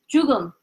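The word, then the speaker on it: 죽음: Jugum. Jugum. Jugum. Jugum. Because when you pronounce each one syllable separate, after me, juk. Juk. But when you put them together, which is that, jugum.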